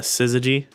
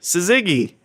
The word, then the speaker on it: syzygy: I found um I think it's technically pronounced uh Sizzy, but I was like Suzigi.